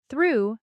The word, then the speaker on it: through: sound like in go but through has the oo sound like in food I know what you